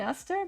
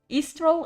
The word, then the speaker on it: Aster: Uh, you can call me Aster, but Easter is good as well. Say it like an Easter.